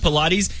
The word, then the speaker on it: Pilates: That's how you pronounce it, Pilates.